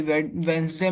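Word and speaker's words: Wednesday: वेडनेसडे में क्या silent है? डी साइलेंट है।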